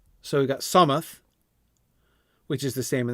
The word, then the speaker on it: Solmath: So we have After Yule for January, Solmath, which he has the letters are for notes, pronounced Somath. So we got Somath, which is the same in the Shire and Bree.